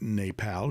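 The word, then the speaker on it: Népal: And I think I'm pronouncing that right, Nepal, because there's an accent grave over the E.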